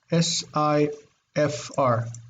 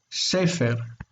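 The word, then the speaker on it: ספר: So the root is sifr, S-I-F-R, sifr. But because this was so hard to pronounce, sifr, they put here a full E, and here they made it a long vowel, sefer, sefer.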